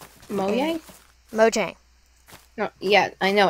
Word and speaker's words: Mojang: And it's pronounced Mojang, according to them. Mojang? Mojang.